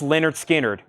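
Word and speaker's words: Lynyrd Skynyrd: wow my favorite from analog Productions Leonard skinnard pronounced Leonard skinnard that is $ 69.99 25% off $52.49 amazing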